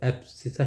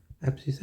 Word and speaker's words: abscissa: तो ए बी एस सी आई एस S pronunciation थोड़ा सा मेरा अलग ही रहता है। पर ठीक है। इसको एप्सिसा ही बोलते हैं।